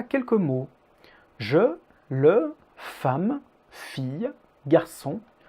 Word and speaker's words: femme: leçon il y à quelques mots je le femmes filles garçons 1 une la suit commençons